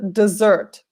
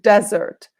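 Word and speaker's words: dessert: part of the meal be careful with pronunciation the last part is the desert not desert desert is where there is sand and it's very hot and maybe you have a camel an oasis that's the desert desert you can see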